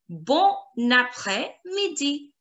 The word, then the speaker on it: Bon après-midi: Bon après-midi. Bon après-midi. Bon après-midi. Good afternoon. Bon après-midi. Now, this linking of the two letters is liaison. We call it liaison.